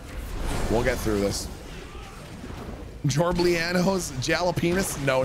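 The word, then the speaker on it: jalapeños: Jalapenos. You mean jalapenos? This is the correct pronunciation.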